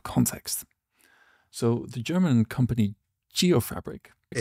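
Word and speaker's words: Geofabrik: So the German company Geop Fabric, if it is German, it's pronounced Gop Fabri. Thanks, Mo. Gay Fabri has done some excellent work subdividing open street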